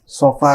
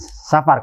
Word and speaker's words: Safar: Oh jadi pelafalan yang benar itu Safar. Safar ya, bukan Safar. Kalau Safar itu dari kata sin, fa dan ro artinya bepergian. Bepergian itu.